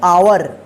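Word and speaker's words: hour: आ उच्चारण हो देखिए इसको पढ़ेंगे आवर ठीक है इसको हावर नहीं पढ़ेंगे यहां पे एच साइलेंट रहता है जब हम साइलेंट वाले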